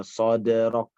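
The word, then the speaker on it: صدرك: Contohnya, alam nashrah laka sadrak, sadrak, sadrak. Seperti kita lam yalid wa lam yulad membacanya. Baik. Silakan kan? Diulangi ayat pertama. Alam nasrah laka sadrak. Sadrak, sadrak. Dia seperti baca derok, derok ya, sadrak, sadrak.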